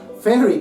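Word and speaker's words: Faery: Otra tradición es la Fairy, escrito F-A-E-R-Y, que se pronuncia Fairy como la Fairy, pero se escriben diferente.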